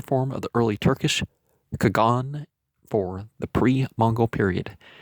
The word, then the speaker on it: Kagan: This title, signifying great Khan or emperor, was and is pronounced more softly by the Chinese and Persians and appears in their written records as Ka'an or Kahan and Han.